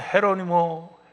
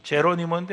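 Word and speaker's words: Jerónimo: 그리고 그 임천택 씨의 맏아들이 임은조라고 그 나라 말로는 헤로니모 임, 제로니모인데 아마 발음을 스페니시식으로 해서 헤로니모 임이라고 하는 사람인데 이 사람이 한국 사람으로는 최초로 쿠바의 대학에 입학을 해요.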